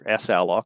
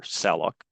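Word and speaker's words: salloc: The commands are sallalloc or saloc people pronounce it differently.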